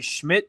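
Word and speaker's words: Szmyt: But they they did part ways with defensive end Obo Okaranquo and in doing so they signed kicker Andre Schmidt is how his last name is pronounced.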